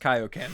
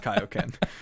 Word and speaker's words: Kaioken: let me just say it's actually pronounced Kaioken, and I don't know what happened to the drawing room there, but it's pronounced Kaioken.